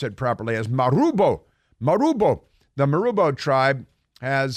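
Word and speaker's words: Marubo: to say Maro because you can't just say marbo it's m a r u Bo o but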